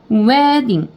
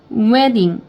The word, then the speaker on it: wedding: 그래서 wedding 그냥 왜라고 읽는 게 아니고요. 우랑 에가 만나서 연결해서 왜 이렇게 소리가 나는 겁니다. wedding 이렇게 되는 거예요. 왜 강세했고요.